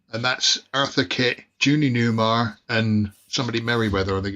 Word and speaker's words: Newmar: The woman on the, if you go back up, Phil, Julia Namer. Yeah. That's Catwoman at the Batman. Judy 60s. Newmar.